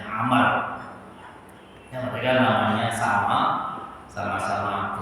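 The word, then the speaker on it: عمرو: khalifah dari Bani Abbasiyah bedanya adalah di huruf terakhir kalau tanpa Waru itu bacanya Umar kalau ada waktunya membacanya Amar yang ketiga namanya sama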